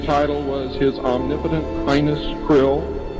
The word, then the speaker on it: Krlll: his name and title was his omnipotent highness Krill pronounced Krill spelled KR l l l or c r